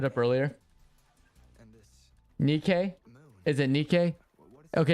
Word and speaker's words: Nikke: Is it Nikk? Okay. It's not Nike. It's Nikk. Okay. I knew I was saying it wrong. It's not a shoe company.